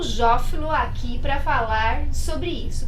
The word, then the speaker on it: Jófilo: Bom dia, Jófilo. Falei a pronúncia certa porque sabe que a apresentadora é dislexa, né?